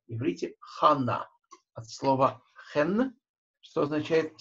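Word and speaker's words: חנה: Заимствованные слова произносятся так, как если бы в них не было удвоения. Например, что такое имя Анна? Почему оно пишется через два «н»? Совершенно непонятно. В иврите «хана» от слова «хен», что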